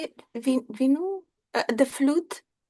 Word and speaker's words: Venu: Vinu? The flute? Venu Madhuri.